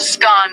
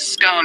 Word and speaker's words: scone: The pronunciation of scone, both scone rhyming with gone and scone rhyming with bone, are accepted pronunciations, though regional variations exist.